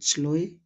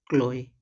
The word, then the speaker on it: Chloe: ही गुस्सा आता था, जबकि उनका नाम सी एच तो था स्टार्टिंग में बट उसका प्रोनाउंसिएशन क होता था, अर्थात क्लोई, बट सी एच उनका स्टार्टिंग नेम में जो लेटर था उसी के वजह से बच्चे सब उनको चलोई चलोई बुलाते थे और वो उनको